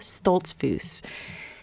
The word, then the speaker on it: Stoltzfus: This week, you get to hear from a new friend, Lisa Stoltzfus. That's right, I just learned to pronounce her name properly.